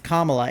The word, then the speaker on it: Kamala: And he's like no because like her name is Kamla. It's not like tomato tomato. Like it's it's not like saying her name with a British accent. It we're talking like that's the way her name is pronounced.